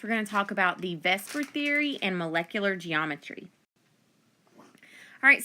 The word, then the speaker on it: VSEPR: real life in 3d it's pronounced Vesper but it stands for valence shell electron pair repulsion basically it attempts to